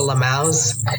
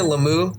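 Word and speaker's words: LMAO: ha-has, a lot of lamaus. Now I say lamu instead of lamau, just to piss off the lamaus. Yeah, lamu. That's because the thing is, this person mispronounced lamau once as lamu, and I was like,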